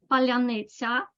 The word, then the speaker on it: паляниця: Petrenko says that there is a word that distinguishes Ukrainians from Russians because only Ukrainians can pronounce it properly. Palyanetsia, palyanetsia.